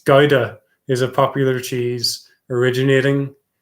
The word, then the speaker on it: Gouda: originating from which country gaiden my dad shouting at me saying gaida just proves how uncultured i am that can't even pronounce cheese right it's gaida is a popular cheese